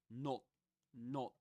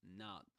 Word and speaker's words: not: The British English you will usually hear not, but in American they usually say not. So Leon says something's not right, something's not right, not, with an sound, this relaxed sound. But in British English, it's this sharper sound.